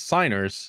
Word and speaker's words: Signers: The G is silent. Why is the G there if you don't pronounce the G?